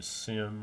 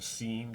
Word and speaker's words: SIEM: And then a type of tool called a SIM or a SIEM, depending on how you prefer to pronounce it, which stands for Security Incident and Event Security Event Investigation Management, if I remember rightly, exactly.